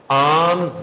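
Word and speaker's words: alms: और चीज होती है आम्स गिविंग यह साइलेंट हो जाएगा एल क्या बन गया आम्स अगर और आसान चाहिए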